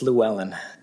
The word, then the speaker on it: Llewellyn: All right, yeah, so I believe it's Llewellyn. That's how that's said, pronounced.